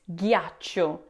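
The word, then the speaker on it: ghiaccio: Now the tricky part with the word gacho is the beginning that g h i a combination j. Now in English we tend to say g with a soft g like in giant. But in Italian the h after g tells you to keep the g a hard sound like in gate.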